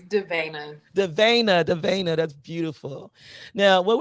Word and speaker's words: Davana: I think she told me it's correctly pronounced Davana Sterling.